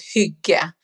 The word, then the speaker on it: hygge: It's called hygge, Yes. Hyggge. Yes. I didn't know how to pronounce it, but yes.